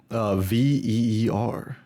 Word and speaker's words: Veer: Veer. It's basically Oh, okay. deer, but with V instead.